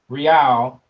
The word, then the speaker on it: real: a hundred dollars to brazilian real or hey that's how it's pronounced in portuguese what do you need